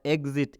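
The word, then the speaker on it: exit: जब भी याद रख लीजिए, जब भी ई एक्स के बाद से कोई वॉवेल्स आता है तो इस ई एक्स का उच्चारण क्या हो जाता है?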